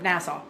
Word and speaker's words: Nassau: I don't know how to pronounce it. Um, Nassau.